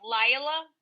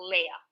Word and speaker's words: Leah: I grew up Lila, and I later adapted to Leah.